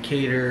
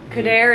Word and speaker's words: Kader: Oh, by the way, I know we've been saying Kader and sometimes we say Kader. It's either or. Kader is the African pronunciation, Kader, yeah.